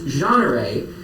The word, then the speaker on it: Jeanneret: And then he also passed on my hard-to-pronounce French last name, which is Jeanneret. But it does have that T on the end that French words like to have.